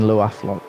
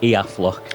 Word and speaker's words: Iaflok: I thought you were saying Loaflok. No, sorry, Iaflok. I'm thinking I I've got Lathander pronounce it down more.